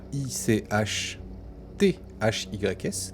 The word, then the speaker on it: Ichthys: Et en fait, effectivement, tu te rends compte qu'il manque le premier H. Que normalement, ce mot, qui s'écrit ICHT H-Y-S, donc Ichthys, qui veut dire tout simplement